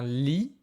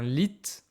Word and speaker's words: lit: Alors, on a un lit. Attention, c'est pas un lit, on ne prononce pas le t.